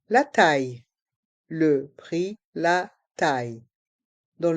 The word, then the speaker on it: taille: Le prix, la taille. Le prix, la taille. Dans le mot prix, le X est muet. Le prix. La taille. Dans le mot taille, les lettres I, deux L se prononcent IE.